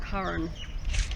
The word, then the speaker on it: Karen: of miss Curran Adams kar en Adams pronounced Cohen this is her property